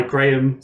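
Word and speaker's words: Graeme: in the past um my name graham is spelled gra eme it is my email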